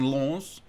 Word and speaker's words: Lens: I started off today's match view by saying Lens. Yeah, I'm working on the French pronunciation.